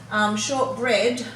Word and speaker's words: shortbread: Shortbread, we've got the EA here making its short sound E. Commonly you would know EA to make a long E sound, but it can also make a short E sound too.